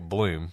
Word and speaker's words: Blum: Well, it didn't take long for the police to realize that Rick Blum, who also pronounces his name Rick Bloom, he can't even decide how to pronounce his name, was not actually his name.